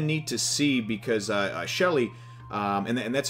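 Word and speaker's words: Sheele: was kind of neat to see because uh Shelly um and and that's how they pronounce it even though it even though it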